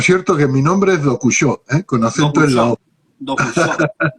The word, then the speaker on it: Dokushó: cierto, por cierto que mi nombre es Dokushó, con acento en la Dokusho, O.